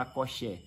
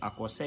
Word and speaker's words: Akossé: Muita gente fala Akoxé, mas a pronúncia certa é Akossé Ifá ou Ixefá, que é diferente